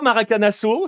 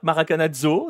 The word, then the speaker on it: Maracanazo: demande Gael de Marseille tu choisis soit maracanasso si tu es côté Brésil soit maracanazzo sit tué côté côté non non non